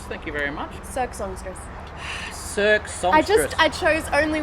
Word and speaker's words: Cirque Songstress: Circus Songstress, thank you very much. Cirque Songstress.